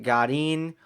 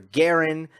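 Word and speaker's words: Garín: the clay it is Christian Godin or Garin depending on if you want to say it correctly or if you want to sound like an American he wins Rio beating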